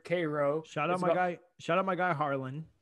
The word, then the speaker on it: Cairo: Well, this time I went a little west to a place called Cairo, not Cairo. It's pronounced there Cairo. Shout out my guy Harlan who lives in Cairo.